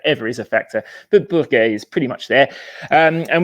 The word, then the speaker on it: Bourgueil: And I hope, it looks like an odd word the way it's spelt, but I think the English version of that word as Bourgueil is actually probably roughly the simplest way of saying it, and therefore not too